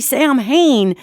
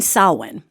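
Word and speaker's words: Samhain: So, it's spelled S A M H A I N. And so if you hear people talking about, hey, happy Sam Hayne, they mean sawin.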